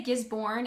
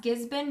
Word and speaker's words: Gisborne: Okay, I finally learned how to say I used to say Gisborne and Melbourne, which is really bad because that's not how you say it. It's actually, it's pronounced Gisborne. They don't really pronunciate the R very much.